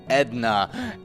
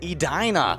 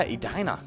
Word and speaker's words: Edina: you guessing edna edna well the common mints mispronunciation is edna the actual pronunciation is edina uh yes uh people like to pick on